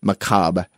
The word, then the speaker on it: macabre: is actually spelled M-A-C-A-B-R-E, macabre. Yeah, and that doesn't means make any sense. Macabre. It's macrame. So whenever I saw the word that looks like macabre, it's pronounced macabre.